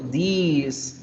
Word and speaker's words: these: Bien, más alargadita la palabra porque tenemos plural, ¿cierto? These, como si diéramos 3 is.